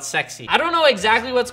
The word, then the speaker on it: S3XY: We got on the back though, S3XY. If you guys don't know, the Model S, the Model 3, the Model X, the Model Y, it's spelled sexy.